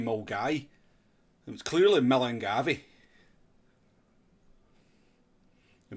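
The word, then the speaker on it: Milngavie: I mean, it's nearly as stupid as people calling Millengavi Mulgai. It was clearly Millengavi. I mean, clearly it is spelt Millengavi.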